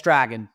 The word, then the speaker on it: Dragan: And it's, yes, Dragan, like a dragon.